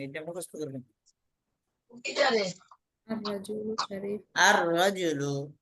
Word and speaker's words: الرجل: লামের উচ্চারণ হবে কি হবে না? লামের উচ্চারণ হ্যাঁ, হবে আদা হবে না। উচ্চারণ আর রজুলু হবে না। লামের উচ্চারণ হয় না।